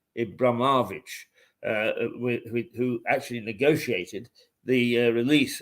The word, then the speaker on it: Abramovich: And they say it was Abramovich. Let me try and pronounce that the Russian way. Abramovich, who actually negotiated the